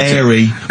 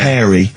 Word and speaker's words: hairy: Sorry, I noticed both of you there dropped the H, or the H, or however it's I had pronounced. to, 'cause So it's airy, kids, means yeah. hairy, Yeah.